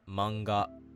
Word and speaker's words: manga: The word manga isn't ma n ga.